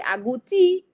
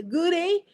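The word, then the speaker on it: agouti: So if it's in American they say a goodies. If they're in Dominica they say agooti. And if they in in London they say goody or or I don't know if my British accent was really good but it's always funny to hear the various pronunciations of the word abooty and so you know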